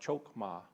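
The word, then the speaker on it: חכמה: The Hebrew word for wisdom is Hokmah. It's actually pronounced more like Chokmah, related to a feminine term through Hebrew wisdom literature.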